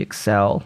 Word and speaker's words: Accel: my calendar it was axle world vol 5 of the light novel or accel world or however the heck you want to pronounce it pretty sure it's supposed to be excel like accelerated having started reading it